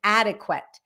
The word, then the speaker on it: adequate: So, first of all, let's say the word adequate. Addict. Adequate. The D becomes very light when it's in the middle of the word.